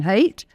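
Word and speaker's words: Haidt: by uh Professor Jonathan hate his name is not he doesn't hate it's not spelled that way it's spelled in an other weird way but um he said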